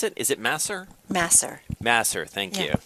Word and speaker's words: Masser: Yeah, how do you pronounce it? Is it Masser? Masser.